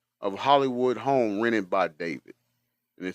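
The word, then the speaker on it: d4vd: Uh and all of it has centered around the singer named uh David. It's pronounced David, but it's spelled uh with um with a four.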